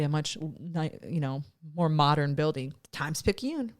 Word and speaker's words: Times-Picayune: So he also told me that this is pronounced Times-Picayune.